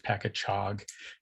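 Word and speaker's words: Pakachoag: So they changed the spelling to better reflect the proper pronunciation, which is Pacachog.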